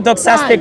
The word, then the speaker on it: doxastic: It's a doxastic notion. You're just trying to do What was praise. it? I'm gonna pronounce it. Doxastic. Doxastic. Like a doxology.